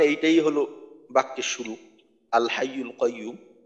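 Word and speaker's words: الحي القيوم: ওয়াকফ করার কারণে এইটাই হলো বাক্যের শুরু আল হাইয়ুল কাইয়ুম তো অনেক জায়গায় দেখা দেখা যায় যে আয়াতের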